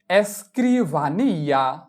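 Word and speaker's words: escribanía: এস চি এর এস্ক্রো এস্ক্রিভানিয়া এস্ক্রিভানিয়া এস্ক্রিভানিয়া মানে পড়ার বা লেখার টেবিল। এস এর উচ্চারণ এস চি এর ই ক্রি বি আ বা এন ই আ নিয়া এস্ক্রিভানিয়া মানে পড়ার বা লেখার টেবিল।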